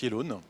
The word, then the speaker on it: Yelloan: votre entreprise alors yellowan ok alors ça se prononce yellone yellow leeit et ça sécrit yellow y e